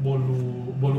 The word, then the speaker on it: bolo: ngerti gak sih, kayak bolu panggang. Ya udah bolu panggang aja gitu, nggak yang fancy, yang kayak bolu panggang kampung gitu. Dan even mereknya Bolo, which is like somehow it's pronounced like bolu, right?